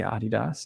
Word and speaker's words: Adidas: kind of like adi dassler it should be adidas even though no one in the u.s pronounces it correctly uh known in the us